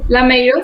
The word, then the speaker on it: Lameiro: ¿Cómo se pronuncia tu apellido? ¿Sofía Lameiro? Lameiro, sí.